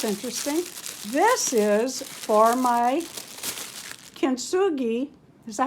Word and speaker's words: kintsugi: This is for my kintsugi.